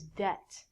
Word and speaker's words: debt: but this word is different this word is debt debit is actually there we go d-e-b-i-t we